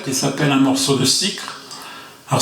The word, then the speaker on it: Sicre: Je vais vous interpréter une chanson de Francis Cabrel qui s'appelle un morceau de cycre. Alors, ce n'est pas une erreur, je prononce bien, c'est bien un morceau de cycre.